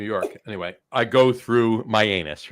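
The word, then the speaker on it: Mianus: s Uranus Uranus it's it's so now it's pronounced myanus right that's what it's pronounced but you can't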